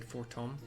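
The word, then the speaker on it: Fortemps: Might I, Emilian de Fortom, see, it's spelled four temps, but the voice actors said Fortom, have the honor of escorting you to the ballroom?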